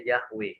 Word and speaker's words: Yahweh: kamu ikuti pelajar jadi yhwh ini bacanya jahwe ya imajis Rahim Yahweh Elohim